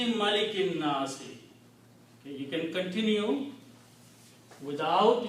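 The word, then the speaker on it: مَلِكِ النَّاسِ: So the word is Malikin Nasi. This is the word in the Quran. King of the people. Malikin Nasi.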